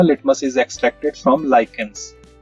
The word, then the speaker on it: lichens: तो हमने बात की थी जब ये चैप्टर समझा था, litmus is extracted from लाइकेंस, spelling ध्यान रखना, LICHENS।